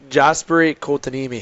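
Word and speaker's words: Jesperi Kotkaniemi: Jasperi Kotkaniemi.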